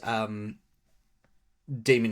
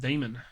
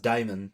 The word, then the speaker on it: Demon: I still need to play the first Demon X Machina. Oh, so it actually pronounced demon. Yeah, I always thought it was pronounced Damon, but then I watch like videos and stuff, and they'll be like, it's demon.